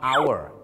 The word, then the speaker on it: hour: แน่ นอน ครับ อันดับ 3 คือ คำ ว่า Our h o ur r Our นั่น เอง ครับ